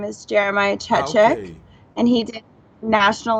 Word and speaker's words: Chechik: Okay, so it's Chechik. Check. So it's CHE, Che, and then chick, like the word chick, CHIK.